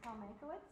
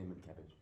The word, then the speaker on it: Mankiewicz: So our next speaker is Paul Mankiewicz. Is that how you pronounce it? It is. Unless you're Slavic, in which case you say Mankiewicz. That's right.